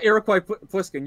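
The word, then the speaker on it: Iroquois Pliskin: iroquois or something like that his name yeah iroquois poliskin you nailed the pronunciation that's exactly it awesome hey i'm a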